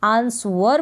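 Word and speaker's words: answer: यहाँ पर ये जो W है आंसर में, इसका प्रोनाउंसिएशन नहीं होता है, आंसर बोलेंगे इसको। क्लियर हो गया होगा, इसको कभी आंसर ना बोलें। आंसर पढ़ते हो तो गलत प्रोनाउंसिएशन हो जाएगा, आप आंसर इसको पढ़ें। W यहाँ पर साइलेंट है।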